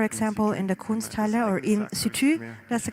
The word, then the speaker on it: in situ: in situ for example in the style or in situ that's the correct uh pronunciation of that that's an exhibition that will